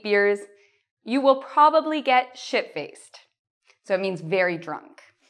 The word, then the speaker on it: shit-faced: Our second expression, shit-faced. Now, important how you pronounce the ED. It's like a T in this case, okay? So we don't say shit-faced. No, no, no. Shit-faced. Okay, shit-faced. What does it mean to be shit-faced?